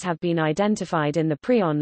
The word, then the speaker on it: prion: pronounced is also heard in his 1982 paper introducing the term prisoner specified that it be pronounced prion equals equals see also